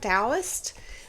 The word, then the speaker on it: Taoist: This was I think it's spelled Taoist, but I've heard it pronounced with a D sound, Taoist saying, and it goes like this.